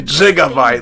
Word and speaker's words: gigabyte: say give a bite it's actually gigabyte like jigsaw it's done so uh